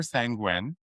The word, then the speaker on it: sanguine: So the popular sanguine, I'm hoping I'm saying it right.